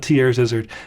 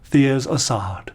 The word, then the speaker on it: Thiers Issard: box theer is aard it may be funny to say theier isard the isard tier isard I've heard people pronounce it that way no it's not tier's zard it's Theo's Assad you got to pretend you're French beautiful beautiful stuff they